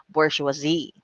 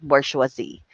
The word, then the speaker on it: bourgeoisie: right even before but the pronunciation of this is bourgeoisie that is right bourgeoisie so it is a